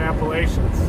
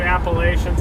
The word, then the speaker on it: Appalachians: mega shelf to come out of the southern Appalachians. In Michigan, where I was born, not necessarily my choice, but they taught us to say Appalachians and Saskatchewan.